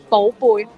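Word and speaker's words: 寶貝: Baby, how do you say it in Cantonese? If correct way then 寶貝。寶貝? Yeah, if in a The correct baby. way, yeah, 寶貝。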